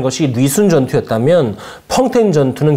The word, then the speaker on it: 펑톈: 20세기 전투의 결정적인 하루, 펑텐 전투입니다. 우리가 흔히 봉천으로 알고 부르는 이곳은 중국 발음으로 펑텐이죠.